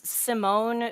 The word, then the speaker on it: Simone: It is Simone, but uh it's always spelled like Simon, so I just say Simon.